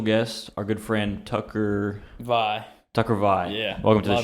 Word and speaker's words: Via: And it's Is it- VIA. V-I-A. Yeah. Oh, Scottish. But it's pronounced Vi.